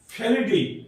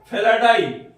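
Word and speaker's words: Felidae: और इसे क्या कहते हैं हम, फेलिडी। क्या कहते हैं इसे, फेलिडी। स्पेलिंग क्या, फेलिडी क्या होता है, F-E-L-I, हाँ F-E-L-I D-E, D-A-E, F-E-L-I D-A-E, इसे क्या कहते हैं हम, वन फैमिली कॉल्ड फेलाडाई।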